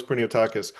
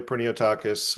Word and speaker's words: Pinotakis: So, uh, my correct pronunciation is, well, it's technically it's Prinotakis, but I go by Pinotakis.